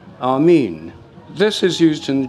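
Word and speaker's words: ἀμήν: as written in Greek, is Amin. And the way it's written is with the eta, the long e. So it's always been pronounced Amin.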